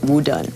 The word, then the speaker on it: Wu Dun: And then hang up, he decided, well, he's going to take the Mandarin pronunciation of his name and call it Wu Dun.